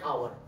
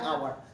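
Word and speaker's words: hour: যদি খেয়াল করি এখানে এইচ এর উচ্চারণটা কিন্তু আমরা পাচ্ছি না পাচ্ছি কি না কার উচ্চারণ পাচ্ছি ও এর উচ্চারণ পাচ্ছি তার মানে আমরা কি রাখবো এই নাকি এন এন আওয়ার তাহলে আমরা এক্ষেত্রে বলতে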